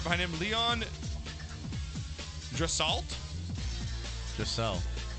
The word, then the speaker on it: Draisaitl: Right behind him, Leon Draisaitl. Draisaitl. It's Draisaital. Spell it again.